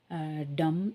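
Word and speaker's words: dumb: டம் சொல்லக்கூடாது.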